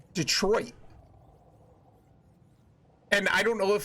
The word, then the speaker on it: Detroit: city in Michigan and we don't say Detroit like it's spelled we say Detroit and I don't know